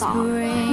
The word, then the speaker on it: Leviosa: You're saying it wrong. Everybody it's Leviosa, not Leviosa.